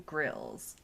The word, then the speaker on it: Grills: So it's like Grills, kind of like Bear Grylls? I was just gonna say. Sorta. Well, but it is spelled with an I, so it is more like barbecue grills.